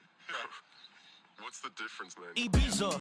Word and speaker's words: Ibiza: Yeah, it's pronounced Ibiza, actually. Yeah. What's the difference, man? Ibiza.